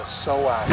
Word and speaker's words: psoas: Reggie's got, he's got a pulled groin, or it's called a psoas muscle. I went to 4 years of anatomy to learn that you spell that P-S-O-A-S.